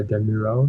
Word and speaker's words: Demiral: So like you said, Soyun Chu and the UV defender, I don't know how to pronounce his name, Demiral. Is it Demiral? Yeah, Demiral.